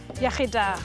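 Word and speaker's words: iechyd da: Iachyda.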